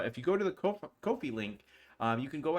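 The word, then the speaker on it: Ko-fi: kofi or is that coffee uh it's it is kofi uh because it rhymes with no fee that was uh that's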